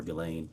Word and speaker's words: Ghislaine: that in 2024 uh Gilain Maxwell or Gileain I think is how it's pronounced arranged and wired $1